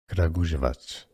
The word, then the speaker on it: Kragujevac: The Serbian pronunciation first is as Kragujevac. Kragujevac. Kragujevac. No. Kragujevac.